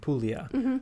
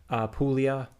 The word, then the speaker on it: Puglia: Italy specifically, we're basically talking about Campania, Calabria, Basilicata, and Puglia, like the four main regions of the south that are typically called the south.